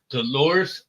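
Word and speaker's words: Huerta: to uh emphasize and put some love towards doresa um it's h u e r t AA that's how you pronounce it so dores uh worked with San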